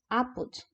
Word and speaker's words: apud: No Priberan, apud, aí tem ali a transcrição fonética, o acentinho no A, porque apud vem do latim, e em latim não havia oxítonos. Por isso que a pronúncia dessa palavrinha é apud.